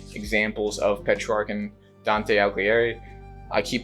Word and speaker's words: Alighieri: I just wanted to show examples of Petrarch and Dante Alighieri. I keep pronouncing his last name wrong. Alighieri.